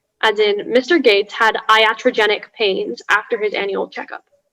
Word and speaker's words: iatrogenic: the information please yes so it can be pronounced iatrogenic iatrogenic or iatrogenic uh it's an adjective